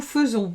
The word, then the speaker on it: faisons: singulier attention au pluriel nous faisons c'est comme ça que ça se prononce mais ça n'est pas comme ça que ça s'écrit on écrit nous faisons